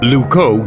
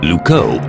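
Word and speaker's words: Loucaux: wrong now what's wrong Luco doesn't really rhyme with Bordeaux it's spelled completely differently really lucow is spelled l-o-u-c-a-u-x you can't write limericks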